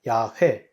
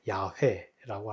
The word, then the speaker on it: 야훼: 없어요 그러니까 하나님은 야외 야훼 여호와라 정확한 발음은 야외 야훼라고 할 수 있습니다 야훼 하나님은 짝신이 없어요